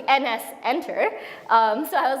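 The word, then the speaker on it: nsenter: understand the namespaces correctly what I was pronouncing his n Center was actually NS enter so I was like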